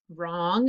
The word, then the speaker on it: wrong: here come the answers wrong is with wr wrist is also with